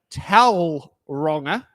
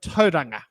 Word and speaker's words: Tauranga: place names such as saying towel ronga instead of Tauranga so these are some